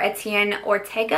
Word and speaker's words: Etienne Ortega: Pierre Etienne palette for Etienne Ortega I believe is how you say his name he is a celebrity